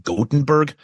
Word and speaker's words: Gothenburg: went to the it's it's spelled Gothenburg but is I think it's prompt like godenberg um he said helix